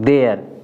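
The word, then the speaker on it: there: देयर।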